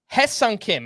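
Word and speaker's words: Hye-Seong Kim: Hye-Sung Kim. I want to kind of put an emphasis on that. It's spelled Hye, but it is pronounced like Heh. Hye-Sung Kim, 2 for 4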